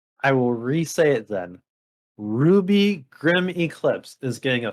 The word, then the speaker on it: RWBY: physical release through limited run games but it's pronounced ruby well i was gonna say that but i